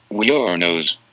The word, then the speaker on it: Wuornos: Her last name is pronounced Wuornos.